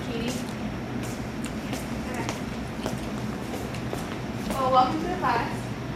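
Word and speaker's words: Cady: Her name is Caddyy Haron. It's pronounced Katie.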